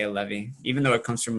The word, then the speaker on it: Allevi: back and forth but we add the accent on it and for whatever reason we say a levy even though it comes